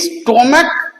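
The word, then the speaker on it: stomach: এই স্টমাক পাকস্থলী, মোনার্ক রাজা, এইখানে দেখো সিএইচ উচ্চারণ ক হয়ে যাচ্ছে, এখানে কিন্তু আর সিএইচ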